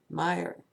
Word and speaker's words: Mayer: phonetically they don't understand that the a is a short name and with the Y it sounds like ah my Mayer and everyone knows that